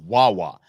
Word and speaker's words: Wawa: doing photo ops at Wawa now uh you got to help us out Rob because a Southwestern cats uh Wawa rhymes with baa I don't know what